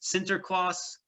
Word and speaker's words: Sinterklaas: Nicholas, which they pronounce Sinterklaas, which becomes Santa Claus.